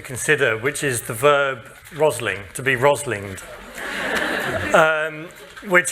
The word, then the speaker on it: Rosling: Sweden so uh just there's a problem because rosling in the Swedish language means the last breath before you die whereas my name is rosling which is a small rose so that mispronunciation in English makes it useless please go for factfulness